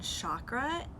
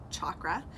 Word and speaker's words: chakra: I've gone my whole life saying chakra, and that's not the correct pronunciation. It's actually a hard CH at the beginning, like Charles, so chakra.